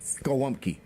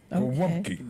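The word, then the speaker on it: gołąbki: Golumpki. Golumpki. That's what I said. Golumpki. Golumpki. Golumpki. Golumpki. Gumpki. Yeah, because the L has a slash through it, which is a w sound in the Polish language.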